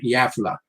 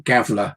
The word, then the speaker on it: Gävle: or so west of a town called Gävle, or Gävle, if you pronounce it as I did, having read it for the first 6 months being there.